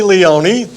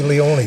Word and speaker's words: Leone: name's Leone. It rhymes. It's musical. Notice that. Leone.